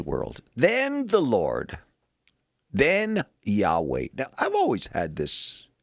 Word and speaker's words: Yahweh: Anyway, the way that is pronounced is Yahweh.